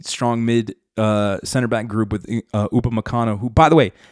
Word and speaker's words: Upamecano: a very insanely strong mid center-back group with Upamecano, who, by the way, it's Upamecano. It's Upamecano, not however the American broadcast team says it. Sorry, it's just, it's Upamecano.